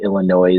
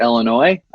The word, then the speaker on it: Illinois: Buddha all of you Illinois is people I'm just kidding I'm from Illinois I know it's not pronounced with an S group in the Quad